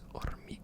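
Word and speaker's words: hormigueo: Sometimes I forget that the H at the beginning isn't even pronounced, so it's hormigue, not hormigue, hormigue, hormigue, hormigue, hormigue.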